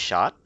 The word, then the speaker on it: Schott: I'm just looking at this last name, like that spelling, but it's pronounced shot.